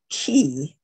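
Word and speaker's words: quay: of a tree now this word is pronounced key whether it's spelled q-u-a-y or c-a-y and it is a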